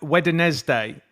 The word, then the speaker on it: Wednesday: It's Norwich and like Wednesday, right?